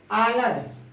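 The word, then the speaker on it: honour: Honest, आनर, ये आपका silent हो गया।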